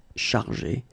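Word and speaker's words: chargés: In both cases, you don't pronounce e and you don't pronounce s. So it will go like chargé, okay, for all the versions.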